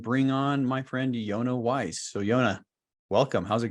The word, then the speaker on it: Weiss: Well, my name is Yonah Weiss, as you so kindly pronounced correctly. That rhymes with advice, which happens to be the name of my podcast, Weiss Advice.